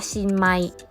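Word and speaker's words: 新米: ปี นี้ เลย ค่ะ ข้าว ใหม่ ภาษา ญี่ปุ่น จะ ออก เสียง ว่า shinmai ตอน แรก มิ้ม กับ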